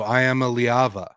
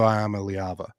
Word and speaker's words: Iamaleava: Nico, I am a Liava. I think is how Imamaliva.